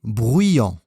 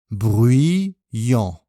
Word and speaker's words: bruyant: Les adjectifs suivants, silencieux et bruyant. Attention à la prononciation. Bruyant, bruyant.